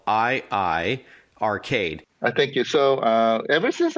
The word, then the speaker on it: iiRcade: And for our listeners, iiRcade is spelled I-Arcade.